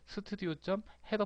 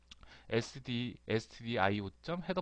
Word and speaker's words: stdio: 바로 요 꺽쇠 표시 안에 있는 스튜디오.헤더 파일. 이 스튜디오라고 있는 거는요. 우리 저기 옛날 개발자 선배들이 부르던 그런 콩글리시 발음이죠. stdio.헤더 파일이라고 읽어야 돼요.